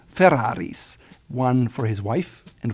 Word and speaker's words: Ferrari: You can tell that double rolled Italian R. Ferrari. A lot of Americans may say Ferrari, or Germans may say Ferrari, but the proper way to say it is Ferrari, double R, Ferrari.